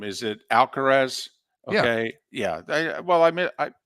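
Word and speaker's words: Alcaraz: and I always get his name is it alcarez okay yeah well I I I mispronounce that name more times than not but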